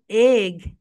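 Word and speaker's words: egg: এখন বলো, ই সেজ এ, like in এগ, এগ। এটার প্রোনাউন্সিয়েশন কি বলতো my dear soldiers? এগ, এগ, নট ইগ, বলো এগ, এগ, এগ।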